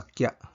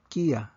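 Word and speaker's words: きゃ: Mausab ang pronunciation mahimong kiya. Kiya nga lahi ra sa kya.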